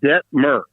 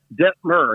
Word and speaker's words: Detmer: It's Detmer, okay? Rhymes with fur. Think incense and myrrh. Detmer.